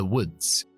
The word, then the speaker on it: woods: The woods. ¿Cómo sé yo que la doble O se pronuncia con la U corta?